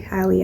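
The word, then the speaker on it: Halle: Hallie, it's actually Hallie, I think. I say Haley because that's my sister. That's how you pronounce my sister's name.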